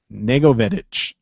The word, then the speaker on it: Negovedich: Sarah, she told me how to say this. Negovedich. She said like Lego fetish.